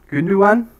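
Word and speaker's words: Gündoğan: i know yes okay it's gundogan good new one actually is how you pronounce it come on he's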